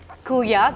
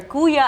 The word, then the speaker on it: kuya: But like, what inspired you to put brother Kooya as the whole identity of your restaurant? Everyone calls us Kooya here, right? Exactly. So what we did is, let's spell it with a double O, Right.